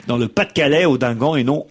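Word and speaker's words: Audinghen: nom du village où ça c'est passé se prononce odingan et non odingen comme je l'ai dit dans le Pas de calis auingan et non odingen voilà j'ai fait je crois toutes les rectifs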